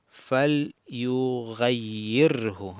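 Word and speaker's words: فليغيره: Entonces la pronunciación sería fal yughayyirhu. Aquí sería la shadda con la i, y aquí sería el sukun.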